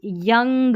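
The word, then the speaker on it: young: और यंग में, जैसे यंग में है ना ओ यू का, यहाँ पर यंग अ करके साउंड आ रहा है, एक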